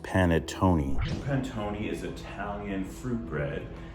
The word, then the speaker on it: panettone: It's pronounced panettone.